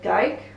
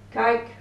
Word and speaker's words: kijk: And the last combination is ij, so we have the word kijk, so ij is pronounced I, kijk, kijken, that means to look or to watch.